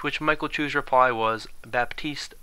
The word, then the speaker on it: Baptiste: Michael Chu's reply was Baptist pronounces the P so if you're wondering why I went from saying batist to baptist that would